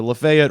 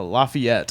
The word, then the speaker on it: Lafayette: actual way is is Lafayette because the guy who it's named after Marquis de Lafayette and that's how he pronounces his name yeah anyway point is